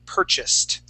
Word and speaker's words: purchased: the word is purchase instead of saying uh uh po purchase P purchase we say Pur purchased purchas okay yeah there we go and that Ed ending will will uh sound like like a te or feel like a tea purchased okay um excellent